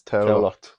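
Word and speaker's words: Tallaght: Is that how it's pronounced in Irish? No, it's Taolacht.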